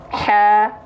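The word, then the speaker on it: هَ: Ha, bukan ha, senyum. Ha, buka mulut karena fathah, senyum karena dia huruf yang tipis.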